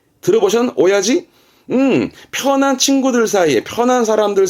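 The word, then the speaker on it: 親父: 아버지입니다. 이때 발음 바뀝니다. 이때는 오야지. 들어보셨? 오야지?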